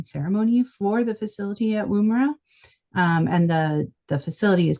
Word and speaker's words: Woomera: Did I pronounce that right? Yeah, Okay. Woomera.